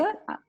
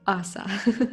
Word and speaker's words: Ása: Yeah, Ausa is fine, so hopefully that should be understandable to the listeners.